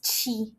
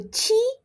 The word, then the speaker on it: qi: Try to remember number 7 in Chinese. 7 is chi. So QI is pronounced as chi.